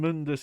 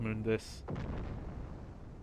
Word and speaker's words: Mundus: on Malay Island oh assume Mundus is the correct pronunciation I always think of um the reboot where they call him uh Mundus instead of moon this oh yeah look at